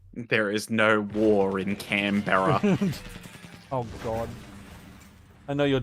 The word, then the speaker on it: Canberra: damn you Americans watching just so you know it's Canberra like yeah like you're saying bro but if the Romanians